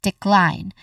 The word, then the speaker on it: decline: So this means that the letter e at the end in the spelling is a silent letter. So this is decline. Klein is the stressed syllable. Again, decline.